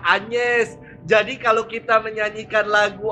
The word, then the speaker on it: Agnes: wajib Santa Angeles Martir Agnes Romo bukannya anyers yang benar bacanya adalah anyers jadi kalau kita menyanyikan